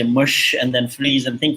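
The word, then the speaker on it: Mushtaq: So Mush, maybe you can start by just explaining your story.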